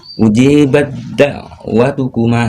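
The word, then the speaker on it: أجيبت دعوتكما: Ujibat da'watukum ya, ujibat da'watukuma ya. Di sini aja yang di contoh bacanya.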